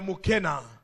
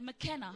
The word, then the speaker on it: Mukena: pronounce it as McKenna. Mais je ne suis pas Makena, je suis Mukena.